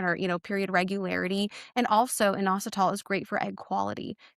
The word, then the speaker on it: inositol: or maybe you're going to hate me for even saying the supplement, No, but is it inositol? Is that how it's inositol. Yeah.